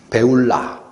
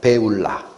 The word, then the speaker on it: 쁄라: 땅이 삐라라 하리라 삐라 배울라 원래 발음은 배울라 삐라 배울라 뭐냐 결혼한